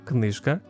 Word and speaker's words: книжка: One feature I really like is that it shows stress shifts when a word form changes, which is super helpful for correct pronunciation, as in the example of the word книжка, книжки.